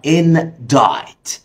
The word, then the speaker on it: indict: واخر كلمه معانا النهارده ودي نطقها indict. زي ما انت شايف هنا السي ما بتتنطقش.